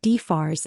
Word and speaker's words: DFARS: She called it D-F-S, letter by letter, like a child sounding out an unfamiliar word, instead of DFARS as a single designation.